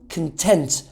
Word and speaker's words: content: When it's an adjective, the pronunciation changes from content, I want to say it one more time, content, to content. The stress is shifted to the second syllable, and it actually means happy and satisfied.